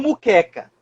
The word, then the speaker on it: moqueca: A gente fala muito muqueca. Muqueca, muqueca. Tudo bem, não tem problema dizer muqueca. Mas você tem que escrever moqueca com M-O.